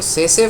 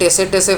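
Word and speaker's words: tsetse: एक बात बता दूं यह टसे टसे फ्लाई नहीं है टी इज साइलेंट कुछ लोग टसे टसे बोल देंगे बट अगर आप इसको मेडिकल डिक्शनरी होगा आपका ऑनलाइन उसमें आप सर्च करोगे तो आपको सेसे फ्लाई सुनाई देगा ठीक है तो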